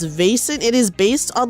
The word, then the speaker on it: Vaesen: The one that my friend has played, but I have not played, is Vesson. I think it's called Vaesen, actually. I think is how you pronounce it. It's Vaesen.